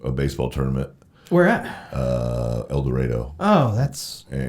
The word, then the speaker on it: El Dorado: El Dorado, Oh, that's It's pronounced El Dorado. El Dorado.